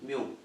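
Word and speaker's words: μ: इसको ऐसे प्रोनाउंस करेंगे MU, म्यू, ठीक है।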